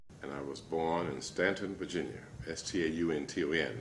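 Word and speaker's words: Staunton: Jr., and I was born in Stanton, Virginia, S-T-A-U-N-T-O-N. It's spelled one way and pronounced another, as there are some cities in the South.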